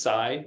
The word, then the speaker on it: psi: that's generally used is Sai which is spelled PSI uh phenomena a lot